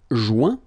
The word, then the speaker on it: joint: Joindre, joint. Rejoindre, rejoint. Okay? Same thing. Final T not pronounced. Joint. So when you get this O-I-N combination of letters, you get the sound ouin.